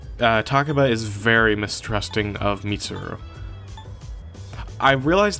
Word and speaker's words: Mitsuru: I realize that I say Mitsuru's name weird. I kind of say it too quickly. I say Mitsuru. I'll try to say Mitsuru instead, because that's more accurate to how the dub pronounces it.